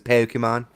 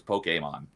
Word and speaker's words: Pokemon: As long as he doesn't say Pokemon and like really pronounce the E. Yeah. Even though I'm not a Pokemon fan, that annoys the crap out of me. It's like the accent makes it like an A sound, so it's Pokemon.